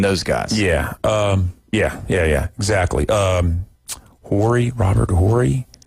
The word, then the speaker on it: Horry: Robert Horry? Horry. It's silent. Yeah. H is silent.